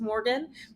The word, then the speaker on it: Morgonn: It's just Morgan, but spelled with an O and two N's.